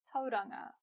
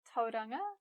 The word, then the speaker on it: Tauranga: From Te Reo Māori we have names like Mount Ruapehu, the Whanganui River, Lake Taupo, as well as towns like Tauranga, Whāngarei, Rotorua, and so on.